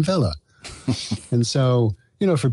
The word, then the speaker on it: Weller: dialogue is he so he doesn't say his name is sam weller he says my name's sam vela and so you know